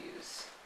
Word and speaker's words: Hughes: Just Hughes, I think. Yeah, Hughes. Like Howard.